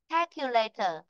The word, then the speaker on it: calculator: Calculator. Đấy. Vì vậy trong ấm nó sẽ rơi vị trí thứ nhất. Đó là rơi vào chữ K.